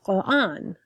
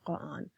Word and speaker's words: Quran: So, just like the word Quran, so I emphasize the qa. Whereas again, if you listen to Zaina's pronunciation, she has a soft K instead of a stronger qa, a throatier qa sound for Quran.